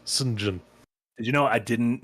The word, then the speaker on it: St. John: John, but it's pronounced St. John.